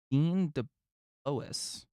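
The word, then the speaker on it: Dean DeBlois: Coming from Dean DeBois. That's actually how his name is pronounced, it appears.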